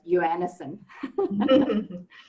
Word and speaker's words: Johannesen: So Courtney, I was just mentioning to Courtney, in South Africa, we would pronounce a surname quite different to what it is normally that she knows. Yes. In our country, we'll pronounce it as Johannesen.